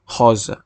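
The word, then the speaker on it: rosa: আর গোলাপিকে বলে হজা হজা যাদের এই বয় শূন্য র এর মত উচ্চারণ করতে সমস্যা হয় তারা আপনার এটা রোজা বললেও সমস্যা নাই তো বাদামি রঙের পর্তুগিজ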